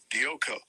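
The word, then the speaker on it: διώκω: Dioko. You pronounced it right, bro.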